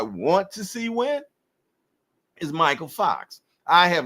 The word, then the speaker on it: Mykal Fox: Michael Fox And I know that's how he pronounces that because he even put it in his Instagram showing you how to pronounce his name. Michael Fox is ready to take Serhii Bohachuk momentum away